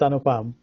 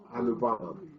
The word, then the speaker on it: Anupam: It's Anupam. Anupam.